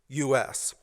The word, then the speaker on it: Fucus: And she asked me, "What is Fucus?" and proceeded to phonetically pronounce the word for me. No, honey, it is pronounced fucus, and it's an algae, not a sex act.